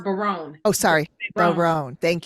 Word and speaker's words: Bayron: I believe it's pronounced Bayron.